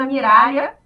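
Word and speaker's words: Miraglia: O meu nome é Miralha, o G é mudo.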